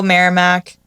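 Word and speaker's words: Merrimack: different ones about Rockingham Straford Cheshure um Hillsboro Marramac is how you say Kas Bellnap yeah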